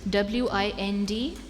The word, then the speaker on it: Windhoek: Also, it can also be pronounced as Windhoek. Windhoek or Windhoek. 20 seconds. Windhoek. Winttoke. Windhoek. That is incorrect, I'm sorry. It's Windhoek.